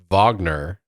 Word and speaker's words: Wagner: What also helps that his name is Kurt Waggoner, spelled like Wagner.